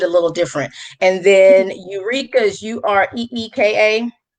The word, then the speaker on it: Ureeka: And then the third one is Eureka, and that's spelled Ureeka. Ureeka. That's Eureka.